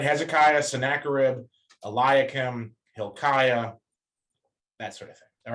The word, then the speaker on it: Hilkiah: Generally, I's before A's are always Aya. So like Hilkiah, Eliakim, Hezekiah, that sort of thing.